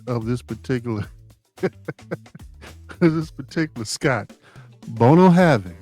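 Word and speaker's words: Bunnahabhain: Bono Having. That's how you pronounce it.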